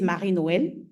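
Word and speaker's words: Marie-Noël: So it's a French name. So I'm going to say it as we say it here. My name is Mari Noel.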